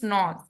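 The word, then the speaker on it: gnaws: इसमें जी जो है साइलेंट है। ठीक है? इट इज नॉर्थ।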